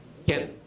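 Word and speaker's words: כן: Ken.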